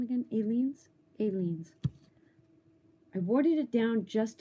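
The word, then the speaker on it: Aleene's: Aileen's.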